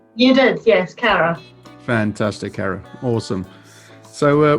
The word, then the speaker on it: Caragh: i made it well done no did i pronounce it correctly you did yes cara fantastic cara awesome so uh welcome to uh